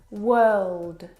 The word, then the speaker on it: world: but this is incorrect the vowel sound is actually as in her work world word this is your